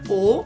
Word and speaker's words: Eau: The shades in here are Eau, like hoax, but it's I think pronounced in French, so it's Eau.